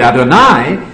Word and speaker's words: Adonai: Testament it never means god there's another word Adonai which your uh viewers can can uh remember because it rhymes with El Shai and people know the